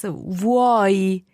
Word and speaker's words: vuoi: It's like if you think of it as VWOY in English. Okay. It's not a good idea, but that might help you think about how you would pronounce vuoi.